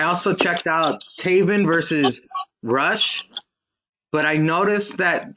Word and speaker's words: Rush: I also checked out Taven versus Rush, but I noticed that they call him Roosh. What the hell's up with that? I guess that's how they say it in Mexico.